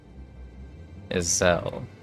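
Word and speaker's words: Ysayle: Isel is interesting. This entire time I was pronouncing it is.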